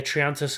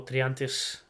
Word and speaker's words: Triantis: this but but yeah triantus as well or triantis as I should pronounce it um he was very